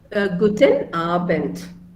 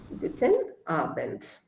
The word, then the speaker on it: Guten Abend: How we should pronounce good evening? Guten Abend. Guten Abend.